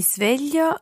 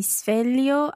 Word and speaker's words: sveglio: Isla, listen again to exactly how Francesca pronounces the S of sveglio. Mi sveglio alle sei. Mi sveglio alle sei.